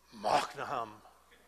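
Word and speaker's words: Mahanaim: afraid to even try, but in Hebrew it's Machnaam. Okay?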